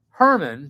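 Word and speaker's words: Germán: I have a friend from Argentina, and his name is Herman, but it's spelled German, and his family, his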